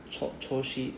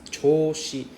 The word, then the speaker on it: 調子: The 調子 was a bit off also. It's more like 調子. Right? It's not like 調子. I forgot how to pronounce, but it's 調子. So you have to drag the O sound.